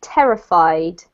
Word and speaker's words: terrified: here for you so this one is terrified yet so the emphasis is actually on this syllable here terrified yes that's better